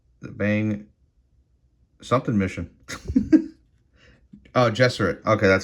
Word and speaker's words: Gesserit: Oh, Gesserit. Okay, that's how you pronounce it.